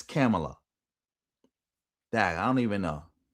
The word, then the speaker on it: Kamala: I've been calling her Kamla and it's Camela.